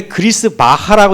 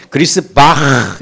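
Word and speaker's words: Griesbach: 근데 우리는 왜 그리스 바하라고 읽는지 모르지만 이게 독일 원어로 읽으면은 그리스 바흐 이렇게 읽어요.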